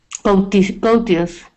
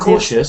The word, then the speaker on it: cautious: Courteous. Yes, but I think it's pronounced a bit differently. What is Cautious.